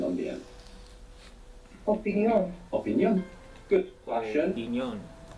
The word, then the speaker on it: opinión: Just in Spanish they have the accent on the end.